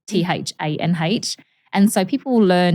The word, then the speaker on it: Thanh: My name is Tan, Thanh.